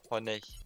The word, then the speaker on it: Honey: Hani'yi fullleyeceğiz dostlar. Aynen. Honey. Hani diye okunuyordu.